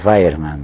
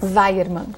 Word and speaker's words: Weiermann: Bom, meu nome é um pouco complicado mesmo, mas a pronúncia correta é Weiermann. Weiermann.